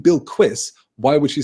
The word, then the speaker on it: Bilquis: I pronounced it Bilquis for years and years and years, but then I have heard the liquid U being used, so it's almost a Bilquis.